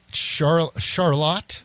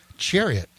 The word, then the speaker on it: Chariot: Well, let's start off with Charlotte. Is that how you pronounce it? Charlotte song? Chariot song? Chariot. Oh, I'm sorry. Yeah. That's Chariot.